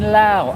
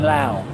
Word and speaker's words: Laos: videos is set in Laos. He keeps saying Laos. I'm sure it's pronounced Lao.